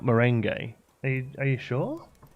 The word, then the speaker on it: Merengue: It's Merengue, not Merengue. Are you sure? Merengue. Merengue.